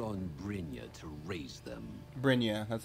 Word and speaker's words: Brynja: Brynja, that's how you pronounce it.